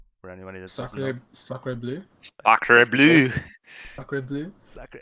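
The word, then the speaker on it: sacré bleu: Yeah, so your first win, you will play against Monarchs with Psycho Demon or Sacre Bleu with Prox and Hyphenated.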